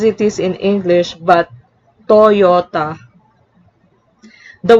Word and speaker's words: Toyota: can be in english thus toyota is not pronounced as toyota as it is in english but toyota the y can also act as a glide